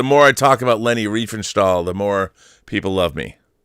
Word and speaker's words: Riefenstahl: But anyway, One more time, Rob. Riefenstahl. You got it. Lenny Riefenstahl. You got it.